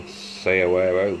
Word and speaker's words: saguaro: But what we have sown, as you may remember, my saguaro seeds, or sayawero, whichever way you want to pronounce it, it's very difficult to show these because obviously the humidity in the bags.